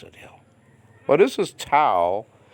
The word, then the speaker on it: tau: Well, this is Tao, In modern Greek, this is called tough. Like, I'm tough, man.